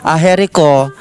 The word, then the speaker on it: Agerico: Aherico. Aherico po ang pronunciation nun? Yes, Yan.